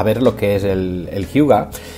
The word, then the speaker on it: hygge: Fijaros que si tuviéramos que traducir Hyuga, recordad, se escribe H-Y-G-G-E, pero en danés se dice Hyuga, evocaríamos conceptos como lo